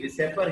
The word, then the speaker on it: VSEPR: वैसे तो ये विसेपर है, बट इसका प्रोनाउंसिएशन हम वेस्पर थ्योरी के अकॉर्डिंग करते हैं।